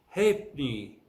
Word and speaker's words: halfpenny: Now the F is silent in the following word. Halfpenny, halfpenny. Of course, in American English, it is pronounced differently as halfpenny, halfpenny. Halfpenny.